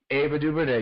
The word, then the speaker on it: Ava DuVernay: So, filmmaker, make sure I always say her name wrong, Chike. Ava DuVernay. Ava DuVernay, yes.